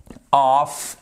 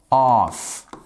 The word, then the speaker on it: off: The event kicks, on n'oublie pas le S de la troisième personne du singulier, off at 8 p.m. Et ça se prononce off. Ça se prononce sûrement pas of. D'accord?